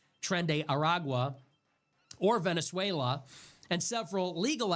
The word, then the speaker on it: Tren de Aragua: Congress has not authorized any armed conflict against Tren de Aragua, I've been mispronouncing it, Tren de Aragua, or Venezuela, and several